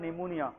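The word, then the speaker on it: pneumonia: निमोनिया में P क्या है? साइलेंट है।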